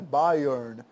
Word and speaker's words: Byron: As pessoas falam Byroniano, mas a pronúncia correta aqui de Byron é Byrne, tá?